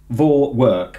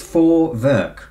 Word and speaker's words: Vorwerk: I think the V is pronounced F and the W is pronounced V. Those Germans. I just want to say Vorwerk, but it's Vorwerk.